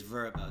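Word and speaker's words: Vrbo: It is Verbo. That's the technical way you're supposed to pronounce it now.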